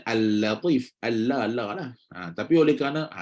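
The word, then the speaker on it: اللطيف: Katanya, kesalahan pertama adalah membacanya dengan tebal. Tafkhim ni tebal. Pada tempat yang sepatutnya dibaca dengan tarqiq. Contoh macam inilah. Al-Latif. Al-Latif. Baca sepatutnya Al-Latif.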